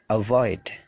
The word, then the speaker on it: avoid: Jadi perhatikan stressingnya. Stressingnya punyanya come, punyanya gain, punyanya leave. Jadi stressingnya itu di suara yang kedua. Avoid, become, begin, believe, blame.